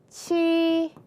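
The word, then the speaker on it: 싫지만: 그 다음 실치만 어떻게 발음합니까? 실치만. 히읗이 지읒 만나서 치읒 됐으니까요.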